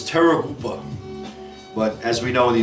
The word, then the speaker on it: Terrorgruppe: The proper German pronunciation is Terrorgruppe, but as we know in the United Terror Group, okay?